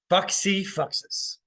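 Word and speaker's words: fac si facis: do in Latin and what how it is pronounced is Foxy foxes and I just think to myself and I'm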